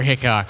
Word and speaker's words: Hickok: Trevor Hickok. Like Wild Bill.